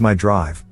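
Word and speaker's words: Mi-Drive: mazda intelligent drive select or me drive pronounced as my drive which only has four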